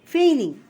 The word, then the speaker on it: feigning: We cannot pronounce G. You can write it if F-E-I-G-N, feign. The main word is feign. And here is ing, feigning.